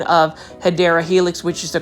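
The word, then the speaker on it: Hedera helix: saying um hedra Helix that is actually the mispronunciation of hyera Helix which is the correct way of saying it um when I was originally doing shopping videos I was actually saying hedra Helix and then I had a viewer plant foldy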